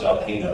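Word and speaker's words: Saldajeno: And it's pronounced Dr. Salahino, is that correct, sir?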